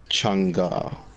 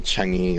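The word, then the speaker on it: Chang'e: Changa. Changa. Okay, I've been saying that completely wrong. So what people say Changi or Change, and I'm just like, bro, just stop.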